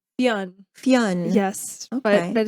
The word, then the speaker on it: Fionn: It's Fionn. Am I saying it right? Fionn. Fionn.